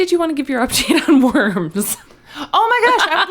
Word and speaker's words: Worms: W-O-R-M-S. Yes. Like, okay. Just spelled like worms. I mean, it's probably verms, right, but it is absolutely spelled like worms.